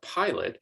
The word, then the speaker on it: pilot: with agree or pilot in the case of pilot it's the second syllable that receives the unstressed vowel sound because the first syllable is stressed pi slit pilot so how do we